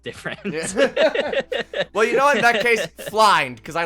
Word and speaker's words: Flind: He points out at this and he points out this thing that you all know to be a fleend, which I recently learned is how you pronounce it.